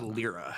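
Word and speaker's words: Lliira: I think it's Lyra. Yeah. It's pronounced Lyra, actually. Lyra. I So do- does Okay. pronounced like the bird.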